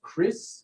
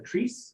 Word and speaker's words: kris: originated in indonesia and those are called chris or kris spelled k-r-i-s they're typically a little